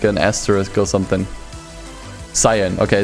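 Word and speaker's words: Scion: Skiing, Pronounce Cyan. Okay, Cyan.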